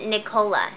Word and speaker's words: Nicola: I think you actually say that Nicola, right? Nicola. I think she was telling me how to say it. Yeah. Nicola from Toronto. Like Ricola. Like cola. Like cola, like yeah. Like Coca-Cola. Okay.